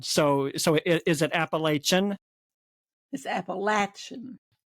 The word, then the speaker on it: Appalachian: I've heard people pronounce it Appalachian and Appalachian. So So is it Appalachian? It's Appalachian. It's got a metals. Yeah. Appalachin.